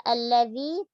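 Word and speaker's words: الذي: Nah, pada kata allazi jaga tasdidnya, tipiskan lamnya, zalnya juga tipiskan, jangan merubahnya menjadi huruf za. Ya. Masih ada yang terkadang tertukar antara huruf zal dengan huruf za. Allazi dia bacanya. Ada yang baca allazina. Allazina. Huruf allazina dalam Al-Quran tidak ada kata selain allazina yang pakai za, tidak ada. Allazi selalu pakai zal.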